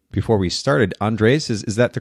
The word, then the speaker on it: Andres: name before we started andres is is that the correct pronunciation it's actually andre's andres okay the the accent on the a okay cool have i've